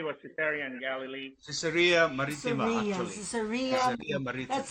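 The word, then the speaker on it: Caesarea: the first day was to Terry and Galilee cesarea that's how you pronounce it and father what's the significant of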